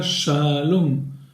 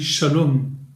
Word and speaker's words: Shalom: vous donne un exemple le mot Shalom qui veut dire la paix ou bonjour n'est pas accentuée sur l'avant-dernière syllabe on dit pas challenge on dit Shalom en accentue à la